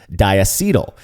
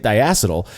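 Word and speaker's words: diacetyl: according to the dictionary in Wikipedia it's actually pronounced dietal this is a Dilly of a pickle I wish I were arrogant enough to call people wrong for pronouncing it dial but uh who wants to be that guy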